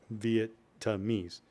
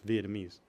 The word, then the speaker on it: Vietnamese: He's like, Dad, it's not Vietnamese. It's Vietnamese. I still don't know if I said it right. So, Coy, I'm sorry that I can't say it right. The T's silent.